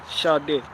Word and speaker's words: Sade: But not Sade. Sade. She pronounced her name like, I was like, oh shit, yeah, because she Nigerian.